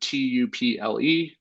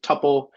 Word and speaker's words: tuple: So if you see that word tuple, that is some people pronounce it tuple. I like to call it tuple, but that is going to be very similar to an array.